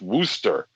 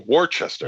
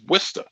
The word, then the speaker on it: Worcester: and solidifies everyone's uh theory that worcester is pronounced wooster or warchester you keep saying that you keep saying it's not it's not woo it's wista that's how it's pronounced winster it's wood i